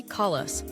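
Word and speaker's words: Calais: For example, the border town of Cala is not pronounced like the French city, but simply call us.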